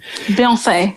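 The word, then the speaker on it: Beyoncé: Beyonce, yes. That's right. That's right. That is how it's supposed to be pronounced.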